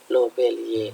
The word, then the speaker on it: Lobeliae: Lobeliae, cara bacanya lobelie.